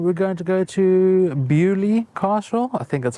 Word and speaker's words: Beaulieu: going to go to beaulieu Castle I think that's how you pronounce it um it's spelled bolu but pronounced bewley whatever and we're going